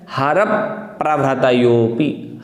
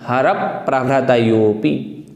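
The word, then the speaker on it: हरप्रभृतयोऽपि: इस प्रकार से अगर हम उच्चारण करेंगे तो ठीक रहेगा। यहाँ भी देखें हमें क्या कहना है, हरप प्रभृतयोऽपि, हरप प्रभृतयोऽपि, हरप प्रभृतयोऽपि।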